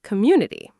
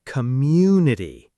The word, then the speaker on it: community: Learners sometimes say community, three equal syllables. But it's community. The stress falls on mu.